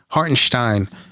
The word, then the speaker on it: Hartenstein: Rose and um Isaiah hartenstein hartenstein as a as it's he wants it pronounced I mean look listen